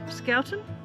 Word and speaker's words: Schouten: Schouten? Like Schouten? Yeah. Yeah. It's almost like school, isn't it?